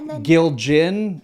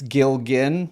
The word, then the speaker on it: Gilgen: and I grew up my last name everybody Gill gin I grew up that it's gilgen my whole life so